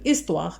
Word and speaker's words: histoire: bataille est par exemple histoire alors une histoire normalement et certainement d'accord histoire alors puisqu'on a ici ma histoire on a h qui ne se prononcent pas à chemillé alors automatiquement